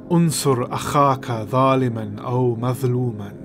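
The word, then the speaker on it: انصر أخاك ظالما أو مظلوما: Frank Herbert does a pretty good job here of pronouncing it, but a more accurate way would be to say Unsur Akhaka Zaliman aw Mazluman.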